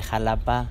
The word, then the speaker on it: Xalapa: sol 4 de la tarde ahora de xalapa veracruz clima templado cielo nublado 21 grados bienvenidas